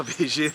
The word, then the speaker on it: Vigie: I pronounced that correct? Vigie? Yes, La Vigie Lookout.